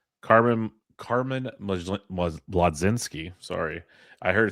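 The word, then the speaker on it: Mlodzinski: Carmen Carmen Madzinski, sorry. I heard it's actually magician Majinski is how you pronounce it. Uh heard that one from good old Jeff Ericson. Just think magician. It's Majinski.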